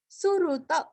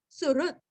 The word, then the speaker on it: सुहृत्: सुरुत सुरुत, सुरस्व हृदय का रू अथवा री और लास्ट में आधा त, सुरुत।